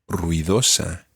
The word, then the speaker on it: ruidosa: And the word for noisy in Spanish is ruidosa. Ruidosa. Ruidosa. Ruidosa. Ruidosa. ruidosa. Sí. There are 4 syllables in that word.